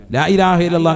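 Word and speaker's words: لا إله إلا الله: ലാ ഇലാഹ ഇല്ലല്ലാഹു, അപ്പൊ ഒരെണ്ണമായി. ലാ ഇലാഹ ഇല്ലല്ലാഹ്. അവസാനം നീട്ടി ഹാന്റെ ഉച്ചാരണം കൊടുത്ത് തന്നെ നിർത്തണം. ഇതെങ്ങനെയല്ലെന്ന്?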